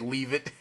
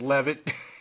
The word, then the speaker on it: Levitt: I said leave it, because I don't really hear his name said too much in my day-to-day life, so I just mispronounced his name wrong, and yeah, just want to correct that as Levitt, Joseph Gordon-Levitt, of course.